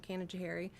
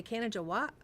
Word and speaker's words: Canajoharie: I just call it my hometown, and I just talk about my hometown being Canajoharie, and they say Canaja what?